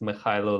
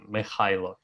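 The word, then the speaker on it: Mykhailo: My name is Mikhailo, which is quite hard to pronounce for a lot of people. And Mikhailo, it's Ukrainian.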